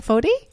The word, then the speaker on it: Foti: Foti? Yes. No, you didn't. You said it right.